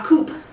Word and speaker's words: coupe: And I forgot to tell you, we're using a coupe glass. Rhymes with shoop.